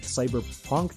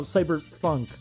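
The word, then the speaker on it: Bomb Rush Cyberfunk: like a week that i kept calling it the wrong thing that was like cyber punk no cyber funk it's supposed to match up with the syllables of jet set radio but like i said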